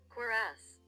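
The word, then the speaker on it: cuirass: It's like Quirass. A quorass. I guess I'm pretty close.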